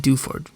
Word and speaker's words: Dewford: Is that how you pronounce it? Dewford.